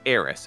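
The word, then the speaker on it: Aeris: here in the us it was always heiress eris a e r i s and then there was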